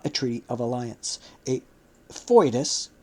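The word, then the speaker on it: foedus: friendship but not a treaty of Alliance a fois spelled f o e d us as Judea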